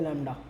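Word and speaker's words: lambda: है लंबा ठीक है बोलते लैम्ब्डा ठीक है यहां बी साइलेंट हो जाता है लैम्ब्डा कहलाता है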